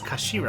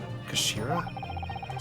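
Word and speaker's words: 頭: end of the hilt it's written as head in Japanese but it's pronounced as Kashira I believe Kashira so Mr oi's words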